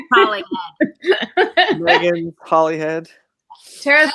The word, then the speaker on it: Hollingshead: It's not Megan Hollingshead. It's Megan Hollingshead.